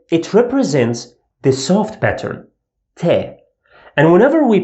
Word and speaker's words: ط: This one obviously represents the hard pattern, Ta. And whenever we pronounce a hard pattern sound, I round my lips small and leave a gape, Ta, Ta. And you feel like you are pushing air outside your mouth, Ta, Ta.